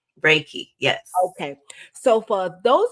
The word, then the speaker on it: Reiki: to make sure I'm saying it right again Reiki Reiki yes okay so for those of us that do not know what raiki is Dr mwa is GNA tell us all about it okay very good so Reiki is an energy healing modality and basically it